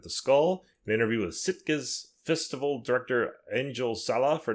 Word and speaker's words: Sitges: You know, until you said that, I'm pronouncing it in my head as Stygius all the time, and I've seen it written. I reverse the I and the T every time when I see all like our, all the directors and stuff we talk. I'm probably still mispronouncing it. I have no idea. No, I think you're right. It probably is Sitges, but an interview with